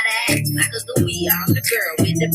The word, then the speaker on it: Sacagawea: But y'all know me, Sacagawea, with a hard G.